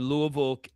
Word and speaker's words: Louisville: Louisville. That's that and people in Kentucky That's how it's pronounced, Louisville.